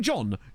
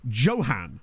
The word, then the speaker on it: Johan: Not even John. Johan. But with the same spelling.